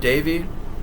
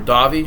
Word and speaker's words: Davi: You also got Gary Busey, Ruben Blades, Maria Conchita Alonso, Bill Paxton, Robert Davey, or Davi. I think it's Robert Davi is how you say it.